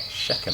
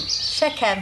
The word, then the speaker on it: Shechem: Shechem. Shechem. Shechem.